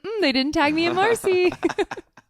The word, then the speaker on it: Mairsyy: didn't tag me at Marcy it's another drink another drink um you'll get it it's like Mercy like like French this is how you actually say my name like Mercy like actually that makes